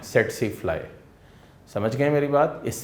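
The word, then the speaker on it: tsetse fly: अगर इसको आप ऐसे ही पढ़ें तो ये दूर से लग रहा है टसी टसी फ्लाई, लेकिन क्या है कि टी साइलेंट है तो इसलिए इसको आप क्या बोलोगे? सेटसी फ्लाई।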